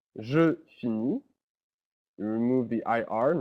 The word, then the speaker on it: finis: The S and the T are not pronounced at all, so it's always just E.